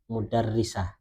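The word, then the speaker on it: مُدَرِّسَة: Kalau konteks kalimatnya yang dimaukan adalah guru, maka bacanya mudarrisah, gitu ya.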